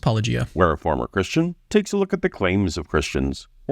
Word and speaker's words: Paulogia: Welcome to Paulogia. Paulogia, however you say his name, is... I know, I ran into that as well, but I think it's just pronounced Paulogia.